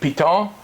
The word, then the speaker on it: Piton: the beer they make piton p-i-t-o-n but the locals they're not a French French pronunciation yeah you dropped the end you do drop it hey it's a good